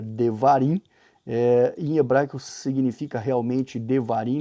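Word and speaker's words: דברים: que é deuteronômio né em hebraico a pronúncia seria devarim ia branco significa realmente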